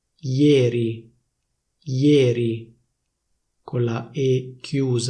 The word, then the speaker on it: ieri: For example, the standard pronunciation is /ieri/. In Milan, though, people say /iéri/, /iéri/ with a close /é/.